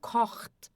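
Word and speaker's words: kocht: Então, cort aqui o ch a gente faz aqui na garganta, tá?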